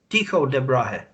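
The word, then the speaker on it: Tycho Brahe: Tycho de Brahe.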